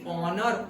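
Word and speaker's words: honour: फिर भी एन, हाँ, क्योंकि ऑनर ओ प्रोनाउंस होता है, समझ में आया, ओके।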